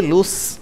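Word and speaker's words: loose: சொன்னால் இழந்து போவதை குறிக்கிறது இதே ரெண்டு வே வந்திருந்தா அதை வந்து லூஸ் என்று உச்சரிப்பாங்க எஸ் உச்சரிப்பு வரும் லூஸ் என்று சொல்லி ஒரே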